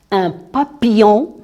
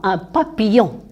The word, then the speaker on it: papillon: Les deux L ne se prononcent pas. Alors là, on dit I. I. On ne dit pas il. Non. I. Le I. I. Un papillon.